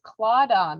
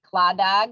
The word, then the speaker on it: Claddagh: the word clauda which it looks like it would be pronounced like claddagh it's actually clawda um is gaelic and